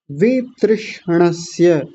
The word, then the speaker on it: वितृष्णस्य: श का भी विषय वितृषणस्य वि वी को थोड़ी देर अलग कर लीजिए। तृष्णस्य तृष्णस्य ऐसा कर लेंगे। वि तृष्णस्य तृष्णस्य नहीं तृष्णस्य तो क्या उच्चारण हो जाएगा? विषय वितृष्णस्य।